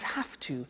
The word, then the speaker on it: have to: pronunciation I have to notice I don't say V I say F have half it becomes half - however - becomes